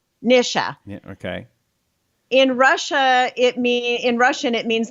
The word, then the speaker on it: Nisha: hello welcome it is the mr show the nisha show by the way you know what